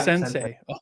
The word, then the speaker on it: Centsei: might butcher the name scentsy is that how you say it yeah sensei okay all right that's cool